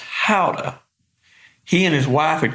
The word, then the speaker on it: Gouda: try some of my gouda and he says out up so i said no i got plenty and he says look i'm from the netherlands it's pronounced howda he and his wife